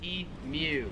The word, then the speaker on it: emu: differently is imu so americans pronounce it emu australians pronounce it e mew i recently did a